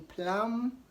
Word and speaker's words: plumber: British boom whom climb whenever B comes after M the B is silent so in Plum see Plum and not